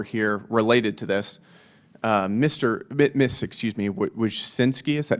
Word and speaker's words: Wojcicki: Miss Wojcicki, is that how you pronounce it? Yes, Wojcicki.